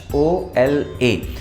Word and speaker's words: hola: हम बोलते हैं ओला, HOLA। एक चीज़ ध्यान रखिएगा, स्पेनिश भाषा के अंदर जो H है वो हमेशा साइलेंट रहता है, ठीक है।